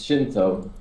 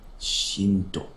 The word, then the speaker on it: zh1nt0: Zinto. Do you pronounce it Zinto, by the way? Or how do you pronounce it? Yeah, it's Shinto. Okay. Shinto.